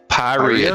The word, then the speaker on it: Pyria: Pyria, just like diarrhea.